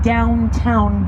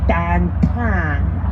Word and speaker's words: downtown: beautiful area of town at the front of the boat now known to most as downtown becomes dan tan here in pittsburgh there